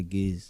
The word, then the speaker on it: Gaise: record deal in 2010 now we add the e so that the pronunciation clearance okay say guys put e put e clear say gays.